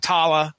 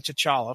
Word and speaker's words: T'Challa: to chala yeah so it wasn't tala it wasn't like the CH was silent or anything so they was like they pronounced all the consonants and syllables that were their syllables okay alright well I